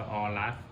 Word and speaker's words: AORUS: จะ ออ ร่า ส่อ มัน อ่าน ว่า อรัส ไม่ ใช่ คอรัส อ่ะ จะ เอา กระติก